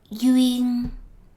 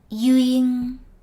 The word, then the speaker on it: duyên: know the concept of DUYêN. First, let's get the pronunciation right. DUYêN, DUYêN, DUYêN. Letter D is pronounced as Y, and the final N is pronounced as a NG.